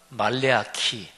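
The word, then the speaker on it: מלאכי: 있는데 실제로 그런건 아니고요 히브리어 히브리어 가 말레 아 키 해 가지고 이게 이제 10월이 어 발음이 그렇습니다 근데 말라기 1 구약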